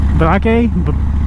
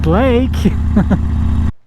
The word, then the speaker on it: Blake: Balake? Balake. Is there a Balake? It's pronounced Blake. Balake.